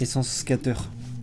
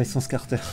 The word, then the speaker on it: Essence Scatter: D'ailleurs c'est essence scatter, pas essence carter.